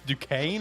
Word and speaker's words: Duquesne: I don't know how to say this team's name, but Duquesne. How do you say that? Duquesne. Is it Duquesne. Duquesne? What a English language is weird. English language is weird, bro. It's Duquesne.